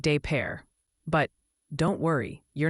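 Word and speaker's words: Des Peres: It's called Des Perez. Oh. Oh, honey. It's actually pronounced de pare, like de pair.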